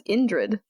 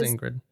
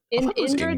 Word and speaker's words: Indrid: I thought it was Ingrid. Indrid is like a band's name, but Ingrid is a woman's name. So I'm just curious. And I didn't want to Okay, it's supposed. I've been saying it wrong. It's supposed to be Indrid.